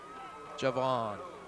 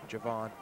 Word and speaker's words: Javon: that Joon Jones Okay Javon that was also given to me as the correct pronunciation for his first name Javon one thing you see